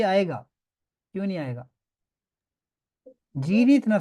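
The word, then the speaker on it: zehn: For example वो क्या था, जैन। जेन, ठीक है, इसमें क्या है, एच साइलेंट है, जेन, ये बीच में कहीं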